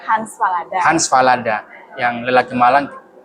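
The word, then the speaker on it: Hans Fallada: Ingin bilang bahwa saya mengenal dia ini dari buku Fans Halada. Hans Falada.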